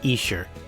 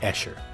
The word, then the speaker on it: Esher: and just to clarify it's absolutely pronounced isher and not eer as I'm sure my